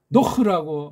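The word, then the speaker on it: נח: 노흐라고 하면은 가장 좋고, 걔네들 하면 아는 조그만 소리를 빨랑 살짝. 노에서 흐 발음이 힘드니까 요거 하나 넣은 거예요.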